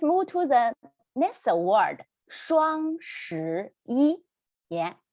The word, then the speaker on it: 双: We need to roll our tongue up again. Roll your tongue up. And the first word here, 双, keep your mouth O shape, just a round shape.